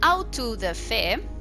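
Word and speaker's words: auto-da-fé: let's go okay and out to the fair that's the pronunciation uh from the Portuguese for Act of Faith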